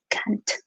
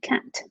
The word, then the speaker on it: can't: a utilizar la contracción, voy a pronunciar la T. La T la pronunciamos bien clarita porque si no a veces no se entiende que estamos diciendo can't.